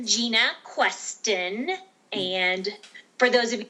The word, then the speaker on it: Jena Questen: Q can you tell us how do you say your name again it's dr. Gina queston and for those of